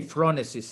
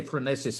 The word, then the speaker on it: phronesis: first how do you in italian we say phronesis in english we say francis how do you say it in greek in